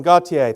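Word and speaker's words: Gotye: charts after a very successful career here boom Gautier thank you very much and thank you for finally teaching me how to pronounce that because many a DJ in the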